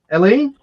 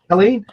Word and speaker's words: Helene: I mispronounced it? Helene? There's no H. Helene.